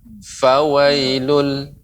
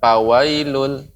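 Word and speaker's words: فويل: Ya, pengucapannya Fauzi, huruf fa itu mengeluarkan aliran udara. Fa. Fawailul. Ya, tidak pawailul.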